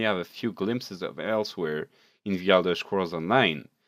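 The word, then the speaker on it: Elsweyr: of very home elsewhere it is pronounced like elsewhere and gives a pretty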